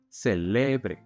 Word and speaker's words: celebre: But if we stress the middle syllable, celebre, then you're telling someone that they should celebrate.